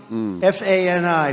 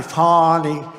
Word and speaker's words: Fani: F-A-N-I, Fani. You have to pronounce it Fani. It's called Fanny. You have to pronounce Fani.